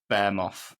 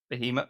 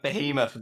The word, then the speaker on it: behemoth: It's still an absolute bear moth. Is that how you say it? Behemoth. Behemoth. I never know how you say it.